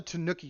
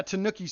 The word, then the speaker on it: Tanooki: the raccoon I thought it was called the Tanuki suit Tu n i Tanuki suit Mario is it the todoki suit yeah Tanooki Suit yeah it's spelled like this um we